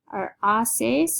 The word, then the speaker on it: haces: to celebrate your birthday OES is remember the H is silent we'll say OES and this is the